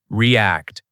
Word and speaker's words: react: Repeat after me, react. Pronunciation tip, stress on the second part, r e a c t.